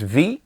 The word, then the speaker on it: Vie: I think it's pronounced V uhhuh which is life in French yeah um I did